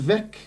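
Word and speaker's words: Veeck: Is it pronounced Vec, not not V?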